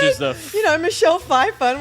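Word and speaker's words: Pfeiffer: the you know Michelle Fifer I'm like wrong it's a pH the p is silent there's an F that's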